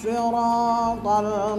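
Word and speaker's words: الصِّرَاطَ: Ihdinas siratal mustaqim. Siratal. Nah, di sini ada ro selain membacanya tafhim tebal dan ada alif ya di sana, dibacanya itu panjang.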